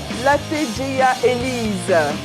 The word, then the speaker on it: Latejeya Elise: Latejeya Elise, oui. Je prononce bien, maman. Oui, c'est ça.